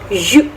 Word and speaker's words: jus: So in French, juice is called la jus.